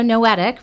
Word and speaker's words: Noetic: So, Noetic rhymes with poetic.